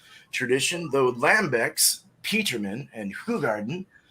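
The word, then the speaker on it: Hoegaarden: though lambeck's peterman and who garden is pronounced hui garden beer in belgium goza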